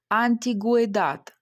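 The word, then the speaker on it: antigüedad: Але коли в цьому буквосполученні хе, у і е, ми бачимо букву у з двома крапками, ми будемо читати гуі. гуе, буква у буде читатись, наприклад, антигуедат, старовина.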